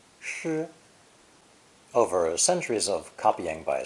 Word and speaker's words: 失: It's pronounced first tone, 诗, 诗.